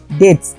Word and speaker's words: debts: বেশি, হিজ ডেথ এখানে DEBTS, ডেবস নয়, এটা উচ্চারণটা বিটা সাইলেন্ট থাকবে, ডেবস, হিজ ডেবস।